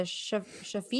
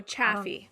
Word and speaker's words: Chaffee: But at a press conference on May 5th, the Shafi, is that how you say it? Chaffee County? Oh, Chaffee. Chaffee, there we go.